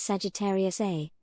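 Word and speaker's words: Sagittarius A*: At the heart of the Milky Way lies Sagittarius A, pronounced A-star, a supermassive black hole with over 4 million times the mass of our Sun.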